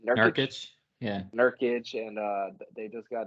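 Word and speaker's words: Nurkić: nerd how do you say the nurses yeah nurkic and uh they just got another uh four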